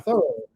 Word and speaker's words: Thoreau: Thoreau my whole life, but it's now Thoreau. Thoreau. Yeah. Thoreau is how you pronounce it.